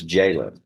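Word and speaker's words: Jaylin: J J A Y L I N That's the way it phonetically looks, but it's It's Jaylen.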